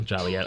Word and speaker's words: Joliet: Town fathers in Joliet reflecting the pet peeve of hearing their town's name mispronounced Joliet. Oh, Jolly. Yeah. I see that now. Joliet.